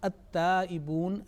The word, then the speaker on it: at-taibun: Now in the first words at-taibun, lam has been merged. Okay, lam is not pronounced.